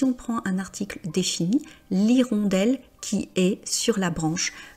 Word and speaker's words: hirondelle: Alors, l'irondelle commence par la lettre H et c'est un H muet.